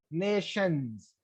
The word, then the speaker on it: nation: then that becomes plural, nations. Here, yes is called inflectional suffix. So these inflectional suffix do not change the accent. So for example, when I say nation, stress is on na.